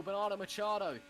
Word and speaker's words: Bernardo Machado: Bernardo Machado, which is the correct pronunciation. Once again, I'm still telling you, that's how you pronounce it, because he told me that.